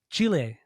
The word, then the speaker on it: Chile: Chile.